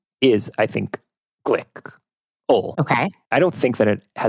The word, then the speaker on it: Glikl: I believe that means it's supposed to be pronounced Glikl.